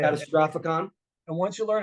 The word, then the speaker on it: Catastrophicon: name first of all catastrophic that's how you say it catastrophicon and once you learn